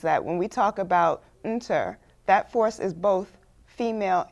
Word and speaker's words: Neter: In the Kemetic faith, we call it Inter, or you might have heard it as Netcher or Netcheru. There's several ways of pronouncing it.